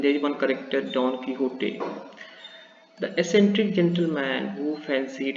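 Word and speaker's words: Quixote: This is an extract from Nikquil Serventis great novel about the dawn kiote. Just you can see it is written pronounced as kiote. So don't read it quiz.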